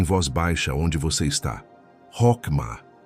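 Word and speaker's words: חכמה: de executar um projeto divino com excelência, é Chokmah. Pronuncia comigo, em voz baixa, onde você está. Rokmah. Chokmah.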